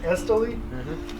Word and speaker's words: Islay: how you say that, Islay.